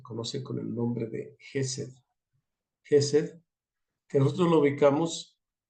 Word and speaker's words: Jesed: y aquí la tenemos jes Aunque dice ches pues es un término en inglés Así que para nosotros es jes porque es lo correcto como se debe pronunciar la Je la same